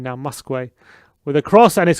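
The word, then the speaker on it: Muskwe: wickham admiral muskway there we go i can pronounce his name now muskway with a cross and his comeback off him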